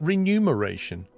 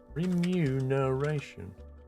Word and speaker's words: remuneration: is that right re remu no isn't it renumeration I got to check that now how do you spell that is that correct renumeration remunerate that's impossible to say remuneration remuneration blind me God no way that is